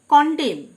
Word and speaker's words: condemn: কন্ডেম, CONDEMN, last N লেটারটি silent, কন্ডেম, মানে নিন্দা করা।